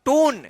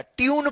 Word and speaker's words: tune: TUNE, इसको क्या पढ़ेंगे अब, टून, गलत हो जाएगा, ट्यून पढ़ेंगे, क्या पढ़ेंगे, ट्यून, ट्यून पढ़ेंगे, ट्यून।